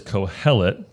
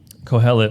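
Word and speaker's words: Qohelet: That word is Kohelet. Kohelet with a Q. I don't know why it's spelled that way, but Kohelet.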